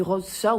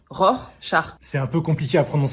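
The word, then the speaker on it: Rorschach: que j'ai dit non vous avez dit rose char je veux pas le savoir mais on dit ROR char c'est un peu compliqué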